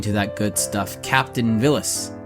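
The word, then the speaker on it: Villads: that good stuff captain villas vilas phyllis villains the d is silent that's the important part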